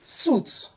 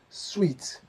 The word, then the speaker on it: suite: Well, it is wrong to say suit, suit, or suits. No. Think of a hotel suite. Pronounce as the way you pronounce candies. Sweet, sweet, hotel suite.